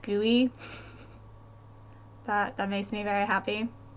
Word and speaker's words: GUI: interface graphical user interface I like that it's pronounced GUI that makes me very happy um a GUI